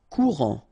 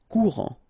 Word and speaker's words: courant: Courant. Final T not pronounced. A-N. En. Courant. Folk.